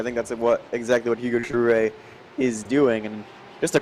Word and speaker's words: Jouet: That's Hugo Jouet, who I believe for the first time this season I'm pronouncing his name correctly. He's no longer Hugo Groot, as I used to call him.